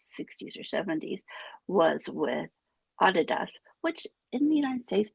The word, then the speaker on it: Adidas: their family name and it was actually Adidas is how it should be pronounced. So I'm relating this story